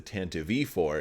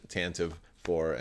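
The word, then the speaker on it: Tantive IV: it as the tantiv four but it's actually pronounced the tan to v4 at least the one we see in episode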